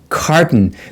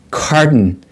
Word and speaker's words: carton: next one is carton carton there's no sound between t and n carton and in American English the t is pronounced like d right d d flap D carton carton a carton of